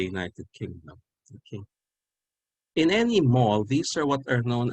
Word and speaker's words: The Mall: own christmas and yam purposes okay the word mal is an americanization of a british term the term in the united kingdom is actually the mal they pronounce it the mal m-a-l-l the mao